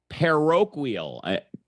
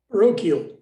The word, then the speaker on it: parochial: with sean in pre-show uh peroquil and i probably pronounced it wrong i told him john unmute how do you properly pronounce that damn word parochial thank you those schools